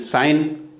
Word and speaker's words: sign: SIGNE, तो SIGNE साइन, जी यहाँ भी साइलेंट है।